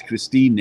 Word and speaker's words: Christine: She spells it like the English word Christine, but we pronounce the E in German, in Spanish as well. Yeah. So they pronounce every letter. And so that's why sometimes people write Christine and I say Christine because the E.